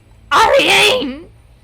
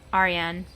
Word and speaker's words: Ariane: Ariane! I said her name wrong. Ariane.